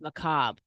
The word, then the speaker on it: macabre: So we learned some great new words like macabre. I always say macabre, right? Does anybody remember? Is it macabre or macabre? Anybody? Does anybody remember? It's macabre.